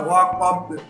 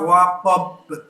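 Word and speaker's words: وَقَبَ: Wa min syarri ghasiqin idza waqab. baknya juga waqab, jangan waqab. Nah itu salah.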